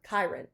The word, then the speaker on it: Kyron: How is his name pronounced? Cuz I didn't. Kirn.